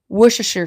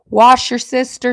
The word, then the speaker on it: Worcestershire: Worcestershire sauce, right? That's how you say it. Worcestershire sauce. Wash your sister sauce.